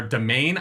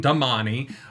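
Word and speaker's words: Domani: they are domain I'm not saying Damani they are sanchin not Sean Chan and yeah yeah there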